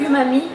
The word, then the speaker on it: umami: Mais tu as expliqué une notion qui était le umami, umami, je prononce bien.